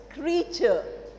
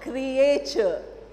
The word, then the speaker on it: creature: you use the word the pronunciation is creature cream sure do you get not Creator suppose we say CRE 80 same grea T then te create creation there we are saying a but-for creature we are not saying creator don't go by Spelling's very often English is not a very phonetic language so we cannot go